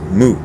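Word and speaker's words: 無: a little pun so wu means nothing no or nothingness or emptiness but it also sounds like a dog barking so there you go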